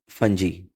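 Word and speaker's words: fungi: अब इसके बाद है 1.5.3 किंगडम फंजी। फंजाई भी कहते हैं, फंजी भी कहते हैं इसको, जो आप प्रोनाउंस करें।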